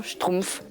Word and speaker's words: schtroumpf: Quand j'y pense maintenant dans le dans le mot schtroumpf, il y a une syllabe et h consonnes. Pourtant, ça n'a jamais posé de problème à personne pour le prononcer. Simplement schtroumpf.